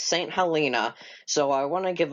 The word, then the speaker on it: Saint Helena: I was informed on a previous comment that I was pronouncing their name wrong, and it's not St. Helena, it's St. Helena.